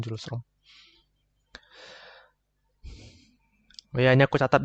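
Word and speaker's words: Hjulström: Nah, gitu ya cara baca diagram julom.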